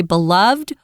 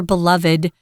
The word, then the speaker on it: beloved: this is South Korea's beloved or beloved you can pronounce it either way beloved or beloved national flower they love